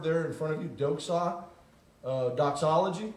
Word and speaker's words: doxa: That word there in front of you, doxa, doxology, right? Praise God from whom all blessings flow, right? A doxology is glorifying God. Doxa is really the way it's pronounced.